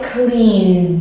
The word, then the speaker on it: cleaned: So to clean, I cleaned. Do you hear that D sound?